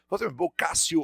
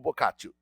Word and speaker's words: Boccaccio: Boccaccio ou Boccaccio, pronuncia do jeito que você quiser, tá?